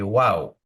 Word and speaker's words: vav: V that flips back in the yemenite pronunciation of the letter VAV you say wow so I've been using